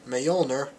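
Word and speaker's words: Mjölnir: And his recklessness got him kicked out of Asgard by his father, and his hammer, Mjolnir, I think that's what it's pronounced, has been banished to Earth as well.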